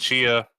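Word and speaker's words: Tchia: Chia, which we were pronouncing as Tachia before, is coming to PlayStation Plus Extra Tier and above in March.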